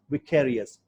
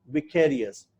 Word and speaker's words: vicarious: आज से आपको याद रखना है, the pronunciation is vicarious. Vicarious.